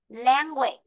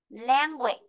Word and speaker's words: language: Khi mà từ có đuôi á gơ é này này, trọng âm luôn rơi ở phía trước. Nó luôn rơi ở phía trước, không rơi vào á gơ é này. Á gơ é này không có trọng âm.